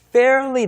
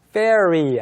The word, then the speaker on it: fairly: 네, 다른 헤어스타일인데 fairly different라고 했어요. 이 fairly 같이 공부를 해보죠. 네, 다시 한번 발음을 해주시죠. Fairly. Fairly. Fairy 아니고요. Fairly. Not fairy. Fairly. Fairy라고 Fairly.